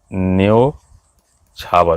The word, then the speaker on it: न्योछावर: देखिए ये जैसे न्योछावर, उच्चारण के आधार पर ये सही है कि गलत है? ये गलत है। इसका सही जो होगा ओ की मात्रा होती है, न्योछावर। औ नहीं होता है, ओ होता है।